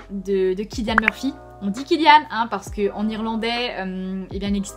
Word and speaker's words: Cillian: tendance à le prononcer Cillian Murphy, l'acteur le répète à maintes reprises, en irlandais ça se prononce comme un K. Donc Cillian Murphy, qui est touchant de par sa vulnérabilité dans ces quelques scènes d'émotion.